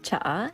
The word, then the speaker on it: tsaa: For anyone who doesn't know, tsaa is how you say tea in Filipino, in Tagalog.